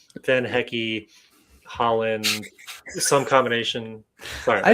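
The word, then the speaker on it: van Hecke: Like it's one of those like players pronounce their names, and he's like, "Yeah, Van Hecky."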